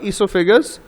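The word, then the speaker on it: oesophagus: তা আমরা পাশে ছবি দেখতে পাচ্ছি, লেখাও আছে দ্য মাউথ ইসোফেগাস, এটা উচ্চারণ হয় ইসোফেগাস, ওটা সাইলেন্ট হবে।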